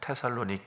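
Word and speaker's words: Θεσσαλονίκη: 거기는 데살로니가 라고 불려요 그 헬라어 발음으로 그리스 발음을 함은 테살로니키 끼 이렇게 말하는 테살로니키 어감은 알렉산더 대왕은 그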